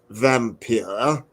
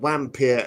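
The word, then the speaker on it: Wampyr: the undead that's the title it would be pronounced vampir which is wonderful Bram loved language but yeah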